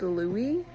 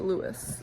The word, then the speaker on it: Louis: first book I also always thought his name was pronounced Louie but I listened to the Audi book and he the Audi book narrator pronounced it Lewis so I guess it was Lewis anyway um what I will